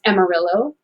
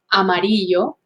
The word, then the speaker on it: Amarillo: have spanish names but have adopted a an english pronunciation such as amarillo amarillo llano yano san antonio san antonio